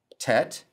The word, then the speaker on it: tet: Tet is one of the T sounds in Hebrew, and it sounds like the T in toy.